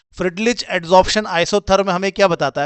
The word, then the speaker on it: Freundlich: इनमें से एक है जिसको हम कहते हैं फ्रिडलीच। ठीक है? फ्रेंडलीच कहते हैं एक को। इसकी स्पेलिंग देख लेना।